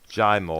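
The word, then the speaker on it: Jaimoe: the dude named jamo jamo I think it is it's spelled j-a-i-m-o-e what's the deal in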